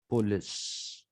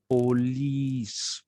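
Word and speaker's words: poleis: greece there were only police p-o-l-e-i is the plural of police and it is pronounced police not police so tomorrow i think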